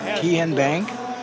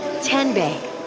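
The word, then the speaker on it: TNBank: Tien Bank? No. Tin Bank? So what is it? 10 Bank. 10, as in Tennessee.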